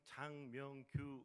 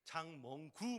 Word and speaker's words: 장명규: 그리고 제 이름은 장명규 목사인데요, 발음이 어려웠나 봐요. 그래서 장멍구 목사님 위해서 기도합니다, 이렇게 해서 저한테 문자가 왔습니다.